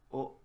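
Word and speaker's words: を: Wo is pronounced o always. This is always pronounced o, like that one.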